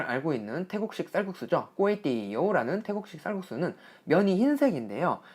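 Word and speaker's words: ก๋วยเตี๋ยว: 참고로 제가 태국식 쌀국수 얘기를 할 때 꼬에띠요 요거 발음할 때 앞에 꼬에는 삼성 뒤에 띠요는 사성으로 꼬에띠요 라고 발음을 했는데 글자상으로는 이렇게 성조법상으로 보면 꼬에띠요가 사성으로 꼬에띠요 라고 발음이 돼야 되거든요. 하지만 현지에서는 이렇게 꼬에띠요 라고 해서 삼성 사성으로 그것도 앞에 꼬에는 조금 짧게 꼬에띠요 라고 발음하니까요.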